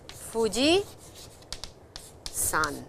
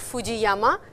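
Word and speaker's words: 富士山: Mount Fuji is Fuji Sun. It's not Fujiama. It is Fuji Sun. Please remember that.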